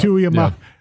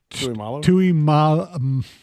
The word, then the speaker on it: Tuimoloau: And so you'll pronounce it better than I, so I'll let you pronounce it. From Buckeyeville, edge rusher, J.T. Oh, we'll just go JT. It's good enough. Tuiamalo. Tuiyolamau.